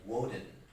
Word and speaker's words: Woden: that happens right so this is actually pronounced woden most of the time so